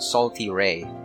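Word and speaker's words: Sal Terrae: So that's how you pronounce it. It's called Salty Ray.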